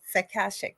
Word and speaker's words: Akashic: Yes, Akashic.